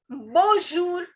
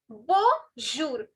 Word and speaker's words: bonjour: Now the word for hello is bonjour. Bonjour. Bonjour. Now, as you can see, this N, I'm not stressing on this N because it has a nasal sound.